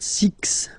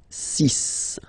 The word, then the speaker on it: six: so you get the sis pronunciation s s okay so it's not six it's sis all right then here